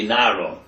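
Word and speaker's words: נערה: Nara here is spelled without a hey. It's spelled like Nar, boy, but it's really Nara.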